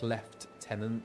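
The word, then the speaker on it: lieutenant: Like left tenant. Yeah, that's kind of it. Yeah. Very strange. One of those curious English things. I think the American uh pronunciation is much makes much more sense because it fits more in with the the French.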